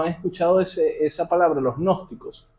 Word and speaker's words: gnósticos: Los gnósticos, se escribe con G al principio, los gnósticos, de ahí